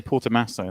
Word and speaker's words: Portomaso: now because i can if you say porter masso that confirms that that's how it's said uh yeah i can't